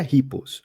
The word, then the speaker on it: RUPPELLZ: A pronúncia é Ripples.